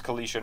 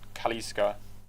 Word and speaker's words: Kalisha: Her name's Kalisha, not Kaliska.